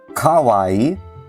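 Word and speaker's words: かわいい: In Japanese, it's ka-wa-ii, right? Kawaii, ka-wa-ii, right? But how would you pronounce this as a southerner, right? You would say kawaii, kawaii, right? Now, in Japanese, this is not right? If you say kawaii, that sounds weird.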